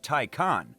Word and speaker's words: Taycan: In reference to the stallion at the center of the Porsche crest, the name Taycan, which is pronounced as Taycan, means lively young horse.